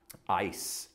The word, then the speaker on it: eis: When Jesus says for judgment, he uses the Greek word eis, E-I-S. It's pronounced ice, like literally like frozen water, for the word for.